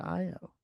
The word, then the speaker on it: Ayo: I knew someone who spelled their name AYO and they pronounced it IO.